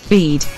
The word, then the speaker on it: Bede: How do you pronounce it? This is how she pronounces it. Bead.